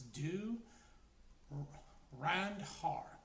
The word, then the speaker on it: Dhurandhar: And the title, if I'm actually getting this right, the H is silent, so it's do Randar.